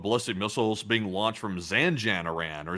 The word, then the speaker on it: Zanjan: We're also getting another video of ballistic missiles being launched from Zanjan, Iran or Zanjon that's how you say it.